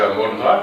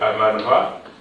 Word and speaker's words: Amon Ra: Qu'on va prononcer Amon Ra, mais en réalité, c'est Aman Ra.